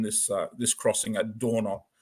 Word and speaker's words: Dornot: uh this Crossing at dorot dno as as the French pronounce it so what had happened